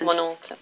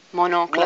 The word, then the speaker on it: Mon oncle: Where he plays, the one we used was, you can pronounce it. Mon oncle. Mon oncle.